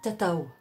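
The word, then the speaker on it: tatau: Pour le tatouage, qui se dit tatao. Tatao, ça s'écrit T-A-T-A-U.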